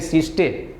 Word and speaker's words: siesta: अब दूसरा है सिस्टे, SIESTA, सिस्टे प्रोनाउंस है।